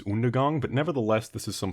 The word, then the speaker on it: Undergang: that it was buried Undergang. That joke doesn't work if you pronounce it properly, which is Undergang, but nevertheless, this is some funky, filthy death metal.